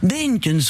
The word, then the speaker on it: Beenkens: Benkens, vous prononcez ça parfaitement à la bruxelloise.